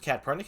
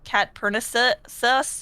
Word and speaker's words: KATPURNICUS: Yeah, it's a bit long, and sometimes people think the C is pronounced S, so they're like Catpernicus, or like they'll kind of stumble on it.